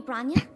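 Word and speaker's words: Bronya: Was that a message from Lady Branya? It's not. That's how you pronounce it.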